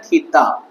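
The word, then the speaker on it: theta: इसका नाम इसे प्रोनाउंसिएशन किया जाता है थीटा।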